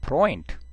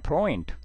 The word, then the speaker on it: Freund: Weber, 그 다음에 에우는 로 아웅라우트 우는 오이로 발음합니다. 오이, 그래서 heute, heute, neu, neu, der Freund, der Freund, 그 다음에 das Fräulein, das Fräulein, das Fräulein, 자, 오늘은 발음에 대해서 공부를 했습니다.